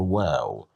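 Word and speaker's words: و: And today we will be dealing with the letter wow. the letter. Wow. As you see, it looks like u the W sound in English.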